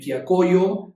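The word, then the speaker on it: Quillacollo: Obviously pray for the churches in Pacata and Quiacoyo. That's how you pronounce those.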